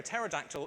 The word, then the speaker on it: pterodactyl: last one i promise why do you never hear a pterodactyl in the loo because it has a silent p thank you for those